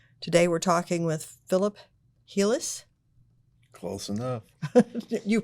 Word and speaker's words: Helleis: Today we're talking with Phillip Helleis. Close enough. You pronounce it for me. Helleis of Covington, right?